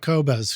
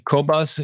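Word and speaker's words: Qobuz: at the studio yeah tell us more about kobas because you sent over your playlist on that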